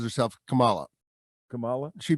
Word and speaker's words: Kamala: Kamala, but she pronounces herself Kamala. Kamala? She pronounces it Kamala.